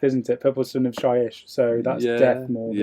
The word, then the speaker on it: Shyish: So this is the Purple Sun of Shyish. I always get that name wrong. I always call it Hyish.